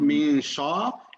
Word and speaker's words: شر: Remember, it's not min sha, it's min sha. Sha, smile. Min sha.